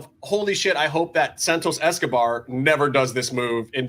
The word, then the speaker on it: Santos Escobar: I'm thinking to myself, dear Lord, I hope Santos Escobar, oh my god, did I say it right? Is that his actual name now? Santos Escobar.